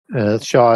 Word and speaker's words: Xia: Shah is spelled Xia.